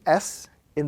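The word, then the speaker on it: سين: letter, this letter is pronounced when the tip of the tongue touches the edges of the two lower front teeth, and again very slightly touching the edges of the two upper front teeth, which gives the sound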